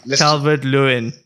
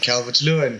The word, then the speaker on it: Calvert-Lewin: I've been told I said the name wrong. Yeah, Dominic Calvert-Lewin. Is that right? Very good. Very good. Dominic Calvert-Lewin, correct.